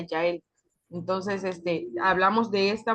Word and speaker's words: Jael: Ah, parece como Jael, pero se pronuncia Yael.